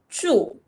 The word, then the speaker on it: 住: a bit difficult I don't know how to pronounce it Emily teach me how do you say this so this one is true true okay so this true what does it mean